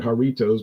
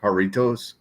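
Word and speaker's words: Jarritos: I would say jaros little jars but they pronounce that haritos but jar you know jar jaros little jars haritos this is the mango is it haritos isn't it pronounced haritos yeah that's what I was just saying I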